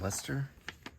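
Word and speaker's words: Leicester: in Alabama I guess that's Lester pronounced Lester and this is of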